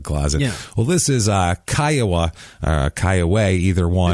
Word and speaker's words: Kiowa: This is it's the Kiowa Indians is what it's named after, and they technically can be pronounced Kiowa or Kiowa.